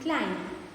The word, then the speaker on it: climb: See, when you say the word comb, thumb and climb, the letter B is silent.